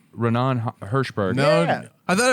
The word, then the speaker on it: Raanan: It's like Raanan, you know. Oh, Raanan.